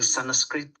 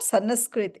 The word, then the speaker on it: Sanskrit: In Sanskrit, Shri means... It is not Sanskrit, it's Sanskrit. That N is not pronounced nice, full. It's Sanskrit, not Sanskrit. Okay.